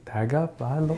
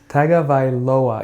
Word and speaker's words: Tagovailoa: Tagovailoa. You said it right. Tagovailoa.